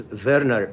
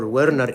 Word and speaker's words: Werner: because V or W is pronounced as V in the German language and the one who described this syndrome his name is Verer or Wernner in English.